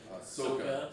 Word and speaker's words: Sokka: oh, how they pronounce Sokka? Soka.